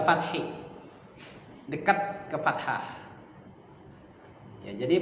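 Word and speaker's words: ف: masuk ke Fa naf fa fa Mat nah Fa itu cara bacanya adalah ujung gigi seri atas n Ging si nempel ke perut bibir yang bawah perutnya bagian dalam mirip dengan huruf F coba f f f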